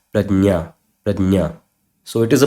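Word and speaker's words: प्रज्ञा: And this word this word does not pronounce as pragya. It is not pragya. It is prajna.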